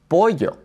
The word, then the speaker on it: pollo: However, the most common pronunciation of the double l in the Spanish speaking world is as a y sound.